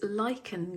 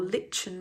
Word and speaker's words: Lichen: Okay, this one is Lichen Green or Lichen Green. People pronounce it differently.